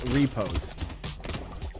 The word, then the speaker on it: riposte: In case you're curious, riposte is pronounced repost.